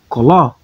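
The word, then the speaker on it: קולו: Como é que eu vou pronunciar? Koló, koló, koló, que é voz dele.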